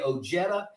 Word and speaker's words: Ojeda: day, in Mexican talk, the J is silent. I don't care. You know, my grandfather said we're going to say Ojeda, and that's how we've always said our name.